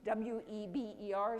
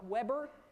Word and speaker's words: Weber: Weber and that is w e BER spelled like Weber but all good sociologists pronounce it as if they knew how to pronounce it in German and it's something on the order of Weber so don't be confused